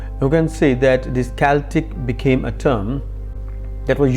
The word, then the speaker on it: Celtic: our discussion from the celtic rather it is celtic that is pronounced with the hard curve sound celtic tribes